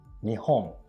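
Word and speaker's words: 日本: gold and number 11 nihong or japan the last one is japan since japan is expression used overseas we japanese don't say japan but nihon there's also another way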